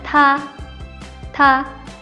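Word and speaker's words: 他们: T dibaca seperti huruf D, jadinya ta, ta. Selanjutnya ada MEN, men, tamen. Selanjutnya ada HEN, bacanya hen.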